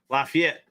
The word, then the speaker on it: Lafayette: live in Louisiana, and they actually roast people way more for how they say Lafayette. Because I read it, I'm like, oh, it's Lafayette. I'd call it Like- Lafayette. A Lafayette or Lafayette, and they're like, no, it's Lafayette.